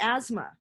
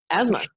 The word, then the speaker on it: asthma: I love the word asthma. Asthma. I think it would make a lovely name under any other circumstance. But if you say it phonetically, how it's spelled, you have to be like asthma.